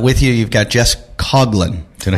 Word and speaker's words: Coughlin: And with you, you've got Jess Coughlin.